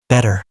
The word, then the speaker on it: better: When t comes between two vowels, Americans pronounce it like a d. Water. w h t r. w h d r. Better.